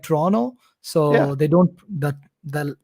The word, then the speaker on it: Toronto: i don't know they the second t is just silent and the real way to pronounce it is like toronto so they don't that